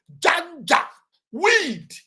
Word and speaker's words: Janjaweed: Just the way you pronounce it, Janjaweed.